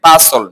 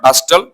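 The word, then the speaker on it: bustle: আর এটাও একই অবস্থা, টি সাইলেন্ট থাকবে, বাসল নট বাস্টল, বাসল, বাসল তো কি তাড়াহুড়ো করা, বাসল তাড়াহুড়ো করা।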